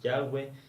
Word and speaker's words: Yahweh: Una es el nombre de Dios, que algunos pronuncian Yahvé, otros Yahweh. En traducciones como la Reina Valera se lo escribe Jehová.